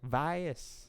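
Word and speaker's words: Vaes Dothrak: Vase? Stop the music. Stop the music. Let's see if Google can help us. Vase. Vase? Vice. Voice. Dothrak. Vice Dothrak. Pronunciation. Vias, apparently, is how you pronounce it.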